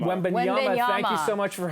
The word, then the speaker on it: Wembanyama: Victor Wembanyama. Wembanyama.